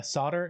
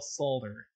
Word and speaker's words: solder: haha true enough uh solder no i will forever pronounce the l solder and when matthew is